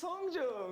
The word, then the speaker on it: Hongjoong: pronounce their names. Hi, my name is Seonghwa. My name is Hongjoong.